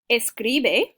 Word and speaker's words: escribe: is to write so i know it looks like don't say e-scribe it's escribe it's a command saying right